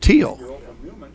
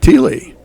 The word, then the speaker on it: Thiele: from Newman, they pronounce spelled the very same way, but they pronounce it Teal. And I didn't think about it. The first time I did a Thiele girl from Newman, I'm pronouncing it Thiele.